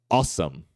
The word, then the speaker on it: awesome: é muito comum eh awesome awesome Então essas três primeiras letras vira Só um só vira um fonema que é o aome awesome Ok e a última